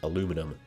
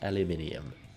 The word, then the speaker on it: aluminium: at crimson for saying aluminum because it's not bloody aluminum its spelt aluminium so it's pronounced aluminium I'm really sorry for